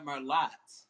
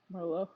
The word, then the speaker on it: Merlot: wine, and they say, you know what, I'll have the Merlot. No, it's Merlot, honey. Merlot It's pronounced Merlot, not for Merlot.